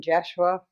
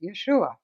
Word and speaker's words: Yeshua: first of all um the name jeshua that is something that is easier for you to pronounce but in my lifetime 2 000 years ago i was known as yeshua i tried that out